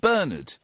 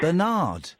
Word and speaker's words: Bernard: Do you know what Americans say instead of Bernard? Probably something strange. Bernard.